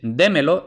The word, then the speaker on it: démelo: no lleva tilde pero si luego le añadimos otro pronombre más entonces es démelo y ahora se ha convertido en una esdrújula que siempre llevan tilde entonces cuidado con eso